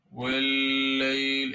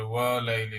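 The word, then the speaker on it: والليل: ওয়াল্লাইল ইযা, ওয়াল্লাইল, এখানেও সেম আলিফ রয়েছে, মনে হতে পারে ওয়া লাইলি, না, এটা আমাদের আলিফ না, এটা মূলত ওই আলিফ লাম একসাথে আসছে, এই কারণে এটা কি হবে, এখানে আলিফের উচ্চারণ না, ওয়াতে ডাইরেক্ট লাম লাগবে। লাম যেহেতু তাওয়াসসুত, মিডিয়াম ধরবো।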